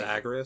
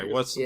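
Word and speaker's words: Agrias: Is the way you say her name Agrius? Agrius, I think. It's Agrius? That's how you pronounce it. Okay, Agrius. What are the voice actors doing? I don't think I've heard anyone say They're saying Agrius. They're saying Agrius? Okay. Just want to confirm.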